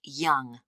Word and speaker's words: Yonge: That's spelled Yonge. That's Young. I see.